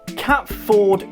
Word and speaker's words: Catford: Ford is instead pronounced FUD. Oh, so Cat Ford is Catford.